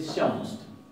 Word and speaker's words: sjáumst: Entonces ellos van a decir, por ejemplo, vid sjáumst. Vid sjáumst. Y esto se va a pronunciar como si fuera una SH con una I. Vid sjáumst.